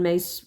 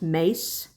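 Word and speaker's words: Myss: And that's what she wrote about, Carolyn Mace wrote about in her book. If you want to look her up, her her last name is spelled M Y SS, but it is pronounced Mace.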